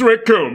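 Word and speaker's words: Recoome: to go like the my name's raccoon it rhymes with doom yeah I didn't want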